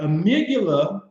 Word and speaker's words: amygdala: In the amygdala, I like to call her the Amy G Dollar because that's how you spell it. Amy G Dollar, D-A-L-A, amygdala.